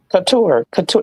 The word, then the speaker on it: Couture: Couture. It's couture. Like hot couture.